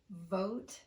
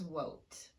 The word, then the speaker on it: vote: Pronouncing the word vote as wote. When you pronounce V with rounded lips, what your listener is going to hear is W, because that's the lip shape that we use for the W sound.